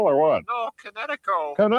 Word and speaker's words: Kinetico: I thought the instructor said Connecticut, not You should have remembered kinetic as in kinetic energy with an O on the end. Kinetico.